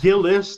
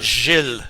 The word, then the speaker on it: Gilles: Yeah, that sound at the beginning of your name is a name that is a sound that is, I guess the closest thing to it is a J, like Jack and Jill.